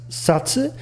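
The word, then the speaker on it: 殺: it's a kanji and this kanji is pronounced satsu and means to kill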